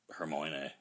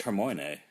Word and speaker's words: Hermione: bring this back to the book, Now Brown, basically Harry Potter marries Hermione.